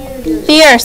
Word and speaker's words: fierce: Fierce. Let's spell it. F-I-E-R-C-E. Fierce. The ear. Ear is I-E-R. Fierce. Has the C sound that makes the S because it has an E after it.